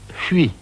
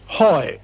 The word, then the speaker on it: Huy: on the Meuse called Huy, H-U-Y. It's a very difficult word to pronounce in English.